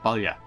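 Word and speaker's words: Baile: Like I said, this word here, that's an Irish word. That's Balya.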